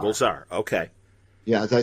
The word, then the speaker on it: Rogol Zar: Rogol Zar. Rogol Zar.